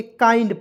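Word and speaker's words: kind: डी को क्या पढ़ेंगे, काइंड पढ़ेंगे। तो की से क लिखेंगे, और जब भी आई एन डी अंतिम में आएगा उसका उच्चारण आइंड के रूप में करेंगे।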